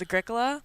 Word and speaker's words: Agricola: 'Cause- It's like Ricola.